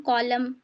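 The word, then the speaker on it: column: एम एन जो है वो साइलेंट हो जाएगा ऑटम ऑटम एन तो एन का साउंड आएगा ही नहीं ऑटम कॉलम कॉलम ही पढ़ेंगे डैम him autumn कॉलम डैम और हिम बस ठीक है। एन साइलेंट रहेगा यहां पर।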